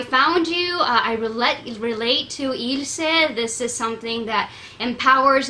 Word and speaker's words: Ylse: So here's how you pronounce it. Ylse. Think illegal and sexy. Ylse. You know how it's Beyonce and not Beyonce? Like that. Ylse.